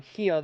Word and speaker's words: Rio: When an R is at the beginning of a word in Portuguese, it sounds like an H, you guys. That's why Rio like Rio de Janeiro is pronounced um hio de Janeiro.